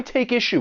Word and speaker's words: take issue: But when you are pronouncing this phrase, keep in mind that we can link the final consonant sound in take with the beginning vowel sound in issue. Take issue.